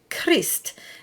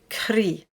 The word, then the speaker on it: Christ: Next is the pronunciation of Christ. And here we're voicing the S and the T. However, if we have Jésus in front of the word, we say Jésus Christ.